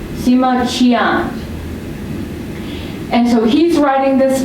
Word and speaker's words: Sima Qian: The Q is pronounced ch. That's it. Yes, that's right. So his name, the historian, is Sima Qian. Sima Qian.